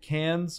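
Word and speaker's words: Cannes: or not uh I is it cans or con or I don't know how to pronounce it's can can all right so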